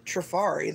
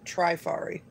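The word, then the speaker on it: Trifari: on track re and they pronounced it true fari they didn't pronounce it try fari maybe just hold on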